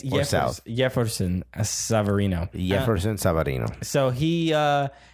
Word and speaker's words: Jefferson: It's not Jefferson. It's Jefferson. Even though there is a J right there. It's spelled with a J, but it's pronounced.